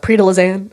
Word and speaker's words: Prix de Lausanne: But yeah, it's called the Prix de Lausanne. I'm like not saying it in the proper French pronunciation. It's like Lausanne, but Americans call it Prix de Lausanne, and like that's like what we call it.